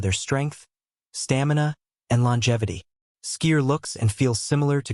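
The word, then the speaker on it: skyr: Yogurt number three, skier. The Icelandic secret. Now, let's talk about something many people haven't heard of. Skier, pronounced skier.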